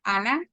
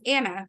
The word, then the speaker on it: Ana: I mean, so even you saying that, for example, too, my name in Spanish is pronounced Ana. So when I went to school, it was Anna from the beginning, which is it's Anna.